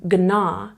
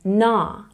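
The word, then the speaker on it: gnaw: in the word na you're not pronouncing the G you're not saying GNA you're saying na or in this word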